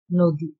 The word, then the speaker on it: নদী: আমরা কি বলেছি নদী, অর্থাৎ নয়ের সাথে ও এর মতো করে অ এর উচ্চারণটা করেছে, নয়ের সাথে যে যুক্ত অ তার উচ্চারণটা অনেকটা ও এর মতো হয়েছে, উচ্চারণ হয়েছে নদী।